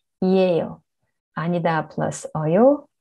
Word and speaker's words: 이에요: And then 이다 plus 어요, 이어요. Not really, 이에요.